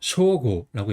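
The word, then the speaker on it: 彰悟: 그다음에 이름 같은 경우는 드러날 창 깨달은 오갑서 쇼고라고 읽어요.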